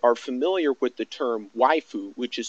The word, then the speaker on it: waifu: And for those of you that are familiar with the term waifu, which is spelled W-A-I-F-U, waifu is a term that is